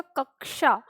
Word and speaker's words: कक्षा: बात कर रहा है तो उच्चारण होता है इसका कक्षा अब कक्षा हमें कैसे पता चला है तो हमें इसके बड़े में बात करनी होगी यानी ये हमारा आधा के और मुर्दा स से मिलकर बना है तो जहां